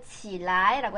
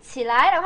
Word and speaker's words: 起来: 근데 얘를 뒤에가 경성이라 가지고 起来, 起来. 요거는 起床, 你起来, 起床, 你起来. 자, 발음하실 때 주의하셔야 돼요. 근데 이거 사실 起来라고 한 사람도 있긴 있어요. 네, 여기 경성으로 표시되어 있으니까 起来, 你起来, 일어나, 起来, 起来. 여기에 일어날 기자에 다 몰아줘, 성조를.